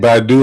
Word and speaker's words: Badu: Badu like Erica, but not spelled the same way.